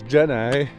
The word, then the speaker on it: Jenny: The correct way to pronounce it is Gen I.